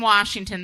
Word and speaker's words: Washington: I'm from Washington. There ain't no R in it.